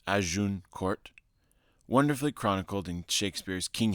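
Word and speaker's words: Agincourt: one more man the Battle of azun Court pronounced aun Court wonderfully chronicled in Shakespeare's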